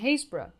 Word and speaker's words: Happisburgh: Europe are found in Happisburgh (pronounce as Haze-bruh!)